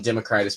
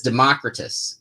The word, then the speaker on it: Democritus: democritus brand and myself he says democritus and i say uh democritus and we even went online to do one of those pronunciation guides and it was pronounced there was two of them and they one pronounced it democritus and one pronounced it democritus so uh we have decided it could be pronounced either way without problems um julie sellers would